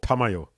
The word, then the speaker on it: Tamayo: Yushiro and Tameo. How's it pronounced? Tameo? Tamayo? No. Tameo. Tameyo. Tamayo. Oh, Tamayo. Mame. Yeah. Is that pronounced right?